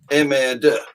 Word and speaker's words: MR2: Unfortunately, in France, that's pronounced MR2, which sounds very like merde, which is the French for shit.